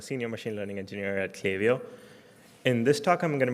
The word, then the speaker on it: Klaviyo: Most importantly, it's pronounced as Klaviyo. I've heard a lot of mispronunciations. It's not Klaviyo. It's not anything else that you thought of. It's Klaviyo.